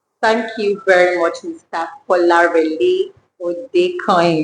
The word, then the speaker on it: Kolarele Odekanyin: Kolarele Odekanyin. It's a pleasure. I'm happy I pronounced your name correctly.